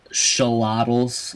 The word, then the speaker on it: Xolotl: micha trek over on the team of the show libels apparently as how it's pronounced we have e sk on the morphing